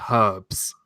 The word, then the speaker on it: herbs: So Don't get me started on how you guys say herbs. Herbs? Yes, because if it's not H is silent.